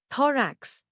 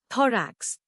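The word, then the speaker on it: thorax: थरेक्स नया लफ्ज थरेक्स इसको तोड़ते हैं दराक्ष जोर दो पर है टी एच ओ आर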